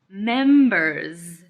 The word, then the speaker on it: members: second thing with members it's plural so we need to hear the Z at the end members members members members great